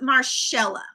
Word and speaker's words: Marshella: So, Marshella, am I saying it correctly? It's Marshella. Marshella.